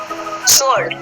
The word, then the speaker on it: sword: यहाँ पे देखिए SWORD सोर्ड, ठीक है। इसको डब्लू है ना, तो यहाँ पे डब्लू क्या है, साइलेंट है, एस के पहले आए, ठीक है। ये आपका, इसको हम पढ़ेंगे सोर्ड, ठीक है।